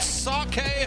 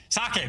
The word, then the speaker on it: sake: And here in America, it's sake. You know, like, oh, for Pete's Sake. Not like that.